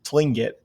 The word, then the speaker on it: Tlingit: was a tlingit indian pronouncing tlingit proudly with a clicking of his tongue as if he was saying clink it he was built like